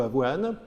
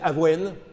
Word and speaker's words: avoine: et du 19e siècle sur la prononciation du mot avoine parce que apparemment à à Paris, on disait Aven devenu Avoine alors que le peuple disait Aven et c'est finalement Avoine qui est qui s'est imposé.